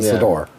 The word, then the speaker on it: Sidor: No, it's not cedar. Nor is a cedar. No, a cedar, nor a satyr. He's a Sidor.